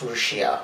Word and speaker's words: Lucia: If you listen to how they pronounce it, it's Rusia, which is identical to the Japanese pronunciation of Russia, which in Russian is Rusia.